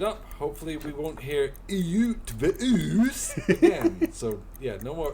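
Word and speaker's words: Ötvös: Utvush is a Hungarian surname. It has a silent E for historical reasons. The is an U. It's between and a, like at the start of Earl. T and V are as you would expect. And finally, sh.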